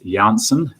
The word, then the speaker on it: Janssen: Likewise, and I understand the correct pronunciation is Janssen vaccine, one of the 4 we have, and there's a release that's come out today on that from MedSafe.